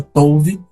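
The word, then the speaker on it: טוב: obra era boa palavra tove aparece várias vezes no relato da criação t o b mas a pronúncia t o v tove que significa bom mas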